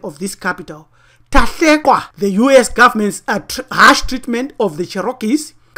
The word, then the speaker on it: Tahlequah: We give you the actual pronunciation of this capital. Tahlequah, the U.S.